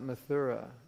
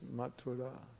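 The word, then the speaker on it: Mathura: you don't know it's not mura it's matura because in Sanskrit when you have an H after a t it's not th it's t mat as I said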